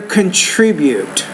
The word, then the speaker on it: contribute: to the greener world you want to say their contribute so stress is on country on that second syllable their borrower this will